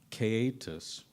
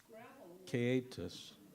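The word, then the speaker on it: caixetas: pronouncing this wrong but it's called uh caetus it's spelt c-a-i-x-e-t-a-s catus good question now now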